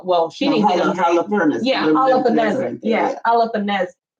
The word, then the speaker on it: Holofernes: Holofernes. Yeah, Holofernes. Yeah, Holofernes. Yeah, there you go. Holofernes. There you go, because you don't pronounce the H.